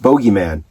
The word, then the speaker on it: Bogeyman: correctly yeah uh and it's pronounced bogeyman because this boy right because this is the comic book villain and not the guy hiding in the back of your closet right now boogy man is copyrighted by the boogeyman Bo